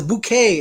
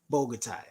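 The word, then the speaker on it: Bogotá: bouquet oh my god I've been calling this bouquet let's get a Bogota why is there Q in there bro guitar Bogota my eyes are watering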